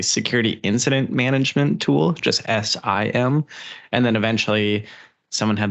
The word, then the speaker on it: SIEM: how to pronounce them s-i-e-m is it Sim is it seem is it sem what is it it is definitely Sim uh so it I'll